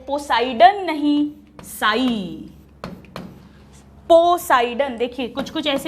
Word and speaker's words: psi: तो इसको पढ़ेंगे कैसे, साई W। सॉल्यूट पोटेंशियल होगा तो साई S, प्रेशर पोटेंशियल होगा तो साई P, वाटर पोटेंशियल है तो साई W, राइट। साई में P साइलेंट है।